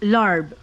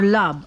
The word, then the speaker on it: larb: You know, the lemongrass, it's very good when you're cooking like chicken, turkey, larb or lab. This is how they pronounce it. Sometimes they pronounce it lab or larb.